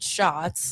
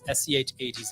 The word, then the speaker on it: Schatz: the thing, and like, no, it's pronounced shots. Like they're malicious, right? Oh yeah. Well, and I do believe that a lot of my stance comes from my name because it's SCHATZ and it's Schatz.